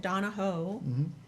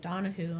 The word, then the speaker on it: Donohoe: name correctly right yeah I always said Donahoe and my children said accused me that I never pronounced at Donahue until we went to Ireland yeah yeah but did